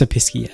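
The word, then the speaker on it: Episkey: Yeah, it's Episky. That's how you pronounce it.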